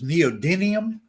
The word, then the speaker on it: neodymium: you as in my class too the correct pronunciation is neodymium uh at least that's the u.s production pronunciation